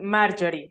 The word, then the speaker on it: Marjorie: sí, se pronuncia Marjorie, sí se pronuncia Marjorie, ok, para Marjorie.